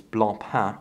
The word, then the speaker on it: Blancpain: watch 300 meters water-resistant blonde pomp actually and no some guys are gonna get on me for my pronunciation is Blanc ha I realize they actually